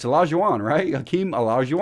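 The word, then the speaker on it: Olajuwon: say allows you want is it Ola g'wan its allows you on write yo Keem allows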